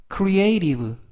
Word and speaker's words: creative: 많은 예문들이 있어라는 뜻이 되겠습니다 이번 단어는 creative creative crea이 발음에 유의하실 것은 중간에 있는 발음이 발음이 연음에